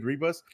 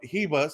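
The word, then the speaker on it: Ribas: pronouncing her name wrong i keep saying rebus in brazilian the the r's are pronounced like h so it's amanda hebus yup hebus so if i'm her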